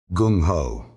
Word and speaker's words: gung ho: Carlson Anglicized it into two syllables that would end up in the American dictionary and stay there for 80 years. Gung ho.